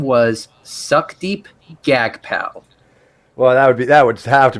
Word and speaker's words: Jagpal: Oh, I have no idea, but it's literally spelled SUCKDEEP with no spaces, and the other one is it's a JAGPAL. And he pronounced it Gag Pal.